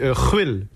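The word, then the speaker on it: Rouïl: Alors moi, mon vrai nom, ça se dit Ruel, mais ça s'écrit R-O-U-I-L.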